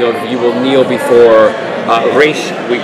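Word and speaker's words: Ra's: it was a way to insult Raish by calling him Raz, because it's the mispronunciation, kind of an insult to him. But when you are the man or you're in the league, you say Raish Al Ghul.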